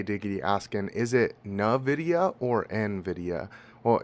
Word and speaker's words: Nvidia: Well, it's it's Nvidia, but uh with my with where I'm from in the United States, it always comes out more like Nvidia cuz I don't know. I just throw a little accent on there. Uh, I really emphasize the N and it comes out as Nvidia, but it is Nvidia.